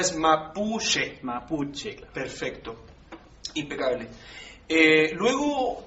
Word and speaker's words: mapuche: ¿Es con la CH bien pronunciada? CH bien pronunciada, claro. Ya, perfecto. O sea, es mapuche.